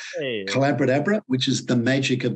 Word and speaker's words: Collabradabra: But if people want to learn more about the approach, my book is called Collabradabra. It rhymes with abracadabra. Hey. Collabradabra, which is the magic of collaborative conversations.